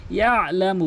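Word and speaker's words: يَعْلَمُ: ইয়ালামু মা বাইনা, এখানে অধিকাংশ ইয়ালামু মা বাইনা বলে, ইয়ালামু, ইয়ালামু আইনের উচ্চারণটি বাদ দিয়ে ফেলে, এখানে ইয়ালামু বলতে হবে।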